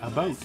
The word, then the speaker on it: about: I say about. About. It's about almost 11. It's not a boat, and it's not a boot, but it's in between.